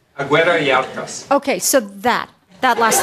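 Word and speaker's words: Agüera y Arcas: So how do you pronounce his last name? Aguirre-Yacas.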